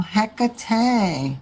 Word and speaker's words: Hecate: Oh, Hecate.